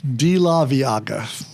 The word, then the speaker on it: De La Veaga: four million times see D laaga because it's each syllable pronounced now as a guy